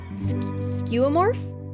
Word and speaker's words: skeuomorph: Speaking of, how do you pronounce this word from last stream? Skeuomorph?